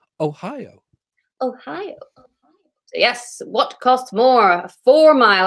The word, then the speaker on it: Ohio: is pronounced it's pronounced ohio you're meant to go up in the middle ohio i was once chatting